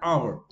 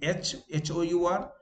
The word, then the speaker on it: hour: Like it took us an hour. When we spell, it is H-O-U-R, but when we remove H, it becomes clear it took us an hour.